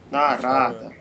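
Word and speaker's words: नारद: Нарада. На второе А. Да, мне все время казалось, что он Нарада.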